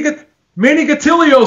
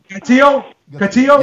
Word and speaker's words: Gatillo: Did you say Gatilo? How do you pronounce it? Do you call it a tortilla too? How does he pronounce that name? Gatilio? Gatillo, right? Gatillo? Yeah, it's Gatillo.